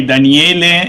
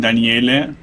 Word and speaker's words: Daniele: doing in our stream okay daniele in italian it's a male name daniele and uh it's okay i am an egyptologist with a phd from pisa university 2011.